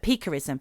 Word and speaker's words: piquerism: is spelled p-i-q-u-e-r-i-s-m-p charism not pica like when you eat clay but pickerism which means pricking or stabbing